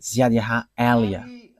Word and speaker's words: Ziad Eliah: And that is not a Malagasy name, but that is the name from us, and that is my name, so I pronounce it as my father pronounced it, Ziad Eliah.